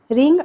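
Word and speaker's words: wring: turn कपड़े निचोड़ दो रिंग आउट वेट क्लोथ्स ध्यान देंगे यहां पर रिंग में डब्लू आर आई एनजी है स्पेलिंग डब्लू यहां पर साइलेंट है मैं पूरे समय उसके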